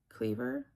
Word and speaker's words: Cleaver: Cleaver? No. Hi, my name is Cleaver. Pronounced like cleaver, like a knife.